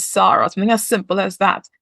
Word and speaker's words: Sarah: was Sarah, yeah, and her American colleagues would insist on calling her Sarah, but that's not her name. Her name is Sarah.